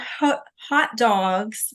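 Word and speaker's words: Haute Dogs: It's called Hot Dogs. It's pronounced hot dogs, but it's spelled like haute couture, which is really cute.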